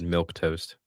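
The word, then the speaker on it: milquetoast: Milk toast. Milk toast, I think is what they're just Is saying. it milk toast? Yeah, they're spelling it weird.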